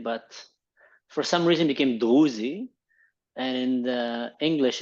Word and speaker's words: Druze: Mansur, let me get into this because first off, is it technically pronounced Druze or Druze? Druze.